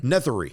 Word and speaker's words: Nethery: So we walk in, and Sean, the docent, we think his name, Sean Nethery. That's how you say it. Nethery.